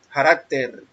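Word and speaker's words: χαρακτήρ: Se pronuncia carácter y significa literalmente grabador o grabar, figura estampada, copia, representación exacta, imagen misma.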